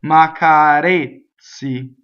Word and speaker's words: m'accarezzi: flat part, making the tip of my tongue flat, I just do it with the tip, right? So m'accarezzi, just like I'm saying a D, but I don't.